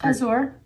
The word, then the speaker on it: Azure: my balloon video and I said it wrong say it it's Azure Azure I would have that's